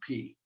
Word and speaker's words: pi: From our math class, it's also a small letter, and we write it just like we write it in math, except we pronounce it P. So those are the next four letters.